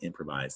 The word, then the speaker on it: improvise: And if you said improves when you read improvise, that's what happened. You lost that I. So down below says improves. Up top is improvise. That S makes a Z sound.